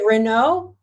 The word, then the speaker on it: Raynaud: How do you say Raynaud?